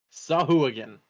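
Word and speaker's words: Sahuagin: you would know what sahuigan is which is the so yes the official pronunciation direct from dnd beyond by extension matt mercer saw who again official but yeah um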